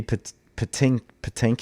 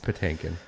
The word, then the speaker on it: Patinkin: Mandy Patinkus? Is that his name? Patinkin. It's Patinkin.